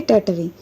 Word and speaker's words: Tartary: यहाँ पर TARTARY दिया है, तो यहाँ पर RTAR के बाद वाला R साइलेंट हो जाएगा, तो उसको पढ़ेंगे टैटरी.